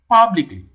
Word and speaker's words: publicly: second syllable okay b publicly publicly where does it fall on the first syllable power okay see particle